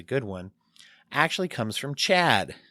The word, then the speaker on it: CHADD: think is a good one actually comes from CHADD. Not just a friend of mine named Chad, but the organization CHADD, which is spelled CHADD, which stands for, it's an acronym,